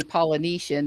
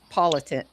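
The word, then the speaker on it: Politan: like that uh I always call him um Vinnie Polynesian, but it's politin politin.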